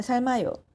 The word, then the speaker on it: 삶아요: 닭이 달걀을 낳아요 닭이 달걀을 낳아요 저는 계란을 삶아요 저는 계란을 삶아요 저는 계란을 삶아요 저는 계란을 삶아요 저는 계란을 삶아요 악셀을 밟아요